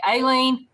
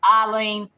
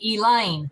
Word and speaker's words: Alyne: pronunciations of my name you can call me aylin eileen allen and ellen but do not call me elaine elaine is my mother-in-law and there is no